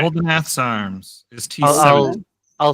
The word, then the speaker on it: Uldinath: Oldenath. I said it wrong. Can you give me a quick spelling? ULDINATH. Cool. Oldenath. All right. Oldenath's arms is I'll, T7.